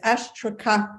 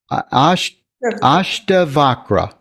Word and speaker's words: Ashtavakra: Well, what I wrote down, what Jenny could probably improve on it, but it was Ashtakara. Vakra. Ashtavakra.